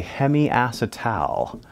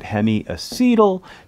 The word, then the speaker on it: hemiacetal: that double bond and this is what we call a hemiacetal you might also hear people pronounce it hemiacetyl take your pick all right